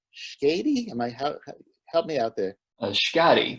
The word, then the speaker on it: Schady: Schady, rhymes with body.